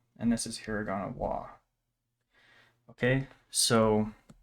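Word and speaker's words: は: this is um hiragana ha and this is hiragana wah Okay so more often than not this is going to be pronounced wa instead of its actual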